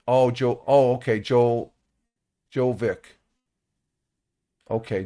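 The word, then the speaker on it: Djokovic: The D is silent. Oh, Jo. Oh, okay. Jovic. Okay. Jovic.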